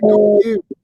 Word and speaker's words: God jul: correct my pronunciation if I don't get it quite right, but is it not Godrul? Godrul. Good. Merry Christmas in Swedish? Yeah. God jul.